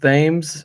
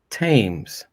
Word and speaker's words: Thames: yeah Rob Thames Thames would you pronounce it Thames Ivan or would you say tames no it' be Thames okay you know Phil